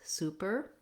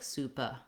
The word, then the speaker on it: super: the letters o o make sure that you still have the tight back er sound but no stress on it so you want your er to be short and your sue to be long super super um but you don't want it to sound like supa we don't want an